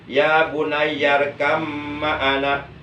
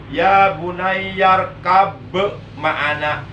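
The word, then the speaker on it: يَا بُنَيَّ ارْكَبْ مَعَنَا: Jadi yang benar bacanya ya bunayyarkam ma'ana. Enggak boleh dibaca ya bunayyarkab ma'ana.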